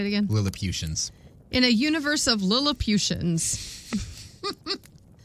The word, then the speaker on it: Lilliputians: Lilliputians.